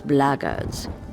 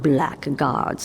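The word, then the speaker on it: Blackguards: another one of those bloggers and that's the way to pronounce it not black guards like that Thug insisted it was then my answer is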